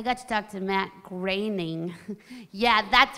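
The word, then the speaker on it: Groening: Todd too I got to talk to Matt graining yeah that's right I learned how to say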